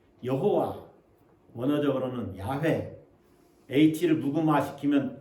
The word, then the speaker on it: 야훼: 예, 영어로는 제호바 이렇게 부르기도 하는데 우리말로 번역하다 보니까 또 여호와 원어적으로는 야훼 H를 무금화시키면 야외 이렇게 발음하기도 합니다.